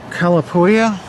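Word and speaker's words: Calapooia: How do you pronounce that? The Cal Calapoua Calapoua Calapoua.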